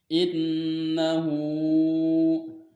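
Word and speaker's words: إِنَّهُ: Nah, terus innahu. Nah, ini dibacanya gunnah sebab nun bertasdid dan cara membacanya dengan didengung atau ditahan 3 harokat.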